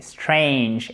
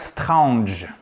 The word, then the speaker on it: strange: Et là, c'est strange, ange.